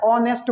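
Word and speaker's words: honest: इसका उच्चारण करते हो कैसे करते हो ऑनेस्ट इस इसको नेस्ट नहीं बोलते हैं इसको क्या बोलते हैं ए साइलेंट एच साइलेंट है ऑनेस्ट बोलते हैं ऑनेस्ट मींस ईमानदार ईमानदार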